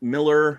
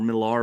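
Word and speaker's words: Millar: I think usually the Miller or marar books however I know it it's properly pronounced Miller but say marar uh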